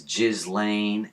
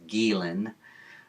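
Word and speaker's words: Ghislaine: They pronounce it as Jiz Lane and it's not. It's Gilen.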